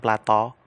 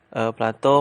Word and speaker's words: Plato: Jadi menurut filsuf Yunani ya, ini pertama Plato, bacanya Plato ya, jangan baca Plato, yaitu nah waktu itu membahasakannya bunga ya, membahasakannya bunga.